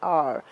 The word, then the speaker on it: hour: Notice in the sentence, he waited an hour. Now here, H is silent, and therefore we are going to use the vowel sound R.